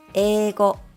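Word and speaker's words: 英語: For example, the Japanese word for English is pronounced as eigo, and student is pronounced as seito.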